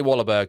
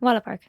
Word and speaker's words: Wahlberg: Donnie Wahlberg comes in.